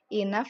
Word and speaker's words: enough: seperti kata tak tadi inaf juga yang akhirannya g h ini dibaca dengan huruf f ya inez paint ya